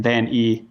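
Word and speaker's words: Van Ee: And Van E is spelled V-A-N and then double E.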